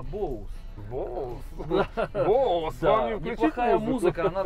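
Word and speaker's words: Bose: Кстати, правильно говорить, не боссы, а боус.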